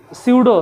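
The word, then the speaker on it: pseudo: तो स्यूडो, तुम लोग से पूछ दे स्यूडो लिखो, आएगा लिखे ले 11th वाला स्यूडो, पी से स्टार्ट होता है, पी साइलेंट रहता है।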